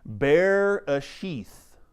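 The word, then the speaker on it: בראשית: one it is pronounced bear a sheath all right so the the way you remember that is that middle e think of that like in parentheses there that it's its own sound all right Bei Bei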